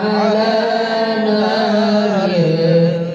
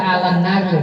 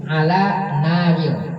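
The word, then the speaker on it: على نار: Ilahi lasturil firdausi a'la wa la aqwa ala naril jahim. Bacanya orang baca alan naril, salah ya. Yang baca yang benar begini nih. Ala naril, bukan alan naril. Ala naril.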